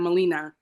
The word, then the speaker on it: Molina: yeah Molina I'm Mia please correct my pronunciation yeah you had it right the first time Molina thank you hi everyone